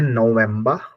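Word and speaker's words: November: नवंबर को बोलते हैं नवंबर नो स्पेलिंग सेम नवंबर अब ये यहां प ी है ये फ का साउंड नहीं करेगा व का ही साउंड करेगा नवंबर इंग्लिश के ी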